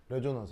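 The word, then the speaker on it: resonance: 시작 리소 그즈 s 여기서 발음 s가 모음 모음 사이에 있으면 이런 발음이 많이 난다고 reson넌스 알겠죠? 어, 정말 가은형 읽어 보세요. 시작 어 그렇지 이게 공명 알겠죠? 아, 재후 그죠? 재후 제 레조넌스 하겠죠?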